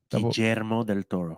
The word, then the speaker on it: Guillermo del Toro: Because when I was in Spanish class in high school, yeah, I was taught that the double L's are pronounced like a Y, like me llamo.